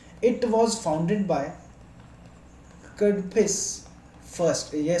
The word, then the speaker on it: Kadphises: इट was founded by कडफिस first, यह spelling pronunciation कुछ इस तरह है, KADPHISES, कडफिस फर्स्ट के द्वारा इसकी शुरुआत की गई थी।